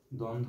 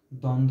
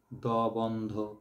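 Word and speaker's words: দ্বন্দ্ব: একটা উদাহরণ দেখো দ্বন্দ দ্বন্ধ কথাটার মধ্যে দ এর সাথে কিন্তু ব আছে আমরা যখন দ্বন্ধ উচ্চারণ করি তখন কি আমরা বচ্চারণ করি দ বন্ধ এভাবে উচ্চারণ করি না ব এর উচ্চারণটা অফ থাকে এই ব এর উচ্চারণটা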